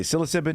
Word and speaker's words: psilocybin: Lastly, on the translation, pronunciation real quick of psilocybin, scientific words are pronounced with a Greek translation, which means mostly short vowel sounds.